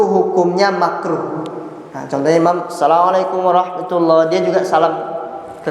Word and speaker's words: Assalamualaikum: Assalamualaikum contohnya, atau diucapkan Assalamualaikum, bukan assalam. Yang benar apa? Assalam, pakai tasydid sa-nya.